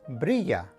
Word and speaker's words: brilla: is e number two whenever you see two l's in a word they are pronounced like the letter y for example this word is pronounced brilla and as you can